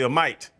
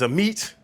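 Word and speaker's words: Amite: I was going to say a mite. It's a meat.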